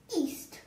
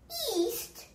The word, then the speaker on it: yeast: the second line is east now i know i said it like east the opposite of west but it's actually spelled with the y cgi team keep track of that okay so yeast is what your mom